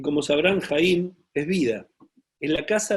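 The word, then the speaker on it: חיים: La palabra vida en hebreo se dice Jaim, lo acabamos de ver.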